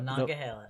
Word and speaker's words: Monongahela: The Ohio, the Allegheny, and then how do you pronounce the other one? The Monongahela. Monongahela, right?